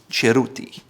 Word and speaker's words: Cerruti: A famous cloth producer is Cerruti. It starts with a C, but it's called Cerruti. It's not Cerruti or Cerruti, it's Cerruti.